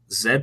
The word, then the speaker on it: Z: website and stuff so Zed prom media um so in Canada the letter Z is pronounced Zed and my last name